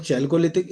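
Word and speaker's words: Chalcolithic: कई लोग चैल्कोलिथिक, spell तो वही है CHALCLO, ठीक है, बट वो चैल्को कैल्को अपने प्रोनाउंसिएशन के ऊपर है।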